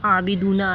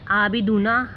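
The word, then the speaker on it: عَابِدُونَ: इसी तरह आबिदूना, आबिदूना, जब भी कुरान में आबिदूना आए तो उसे आबिदूना हमज़ा की तरह नहीं पढ़ना है बल्कि आइन क्लियर प्रोनाउंस करना है। ठीक है। आबिदूना, आइन पे फोकस करें।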